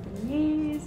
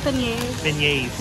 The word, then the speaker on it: beignets: Maybe some beignets if we're looking.